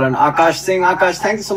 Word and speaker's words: Akaash: And apparently, when it was A-K-A-S-H, they would pronounce it Akash or something like that. So he said when he pronounced it A-K-double-A-S-H, that was the closest they got.